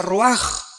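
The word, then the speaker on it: רוח: Se pronuncia roaj. Por ejemplo, cuando hablamos del Espíritu Santo, el Espíritu Santo es roaj, el cadosh.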